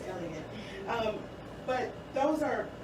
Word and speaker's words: Elliot: Mother Teresa, another woman of royal position, and then Elizabeth Elliot, or Elliot, am I saying it right? It is Elliot.